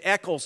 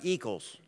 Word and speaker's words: Eccles: not Meister right yeah it's Eccles not equals it's sagerstrom not seegerstrom